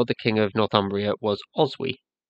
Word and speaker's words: Oswy: king of Northumbria was Oswy. You'll see his name here spelled with a Y, but in Old English it ends with IG. Old English G's are sometimes pronounced like consonantal Y's.